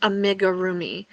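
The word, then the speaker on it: amigurumi: Here it's they they always tell you that it's pr pronounced amigga roomi.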